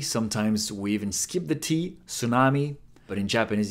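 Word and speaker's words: て: stroke so they it it is pronounced like te in telescope can you see a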